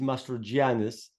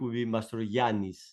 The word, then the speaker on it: Mastrogiannis: a lot of letters is Master Janus that's the way we pronounce it in English but in Greek master yanis like the famous Greek singer yanis gotcha masteryanis okay very